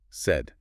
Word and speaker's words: said: So she said she had a great time at the party, and quick pronunciation reminder, said is said. Sounds like read.